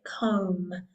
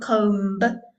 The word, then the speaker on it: comb: Important to note, comb has a silent letter, a silent B at the end. So we say comb, comb. Okay, so it's not comb. All right, silent B.